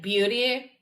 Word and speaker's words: Butte: Wait, Elephant Butte, as in like beauty? Like Butte, Butte. But yes. Beauty, okay, got it.